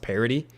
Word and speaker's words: Paradis: I believe his name's actually pronounced Parody, strangely enough.